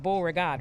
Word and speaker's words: Beauregard: and your uh your name is pronounced beauregard right yes it is it is a french name that was given to